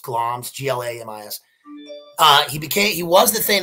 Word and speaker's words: Glamis: That's how it's pronounced, Glamis, G-L-A-M-I-S.